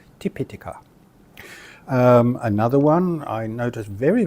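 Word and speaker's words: Tipiṭaka: is often mistranslated as Tipitaka or Tripitaka. Once again, mistaking a short vowel for a long vowel. The correct pronunciation would be Tipitaka, Tipitaka.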